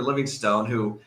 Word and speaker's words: Livingston: I thought the pronunciation guy said Livingstone. No, it says Stun, S-T-O-N, no E. Well, the spring guy get it right.